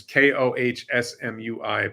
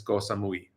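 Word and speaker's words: Koh Samui: And goamui is ko h mui but in Thai pronunciation it's goamui.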